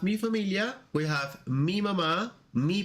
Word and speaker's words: mamá: As you can see here, we have mi familia, we have mi mamá, mi papá. Remember, it's not mama, it's not papa.